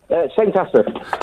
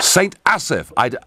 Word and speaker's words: St Asaph: How do I pronounce the name of your town, Neil? St Asaph. St Asaph.